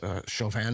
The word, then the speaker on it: Chauvin: So Ben Shapiro just recently came out saying that Chauvin, is that how you pronounce his name? Yes, Derek Chauvin.